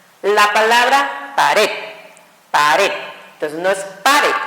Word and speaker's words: pared: Se pronuncia al final a fuerza y termina en cualquier consonante, que en este caso fue la D, ¿ok?